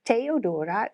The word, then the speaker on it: Theodora: me to pronounce and on social media you're Theodora from Orlando to keep it easy but how did how did I do you did very well so it's teodora yes well my American